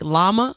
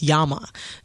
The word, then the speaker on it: llama: So that's why people, when they read Spanish, they be like llama. It's llama. Oh, really? Yes. Oh, yeah, you're right, because of double L's. Como se llama, like that.